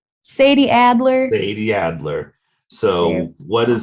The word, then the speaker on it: Sadie Adler: to Red Dead Redemption 2 so you got Sai Alder is that how you say her name Sadie Adler Sadie Adler so what is about Miss Sadie